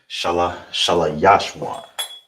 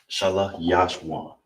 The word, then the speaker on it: Yashwan: All right, so how you say third is Yashwan. Yashwan. Right? I'm saying it in the way so you can hear every syllable.